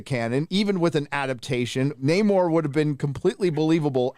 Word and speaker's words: Namor: to change the pronunciation this isn't Neymar it's Namor a completely different character